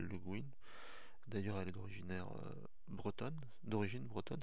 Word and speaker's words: Le Guin: Alors, il y en a qui prononcent Le Guin, mais elle voulait qu'on l'appelle Le Guin.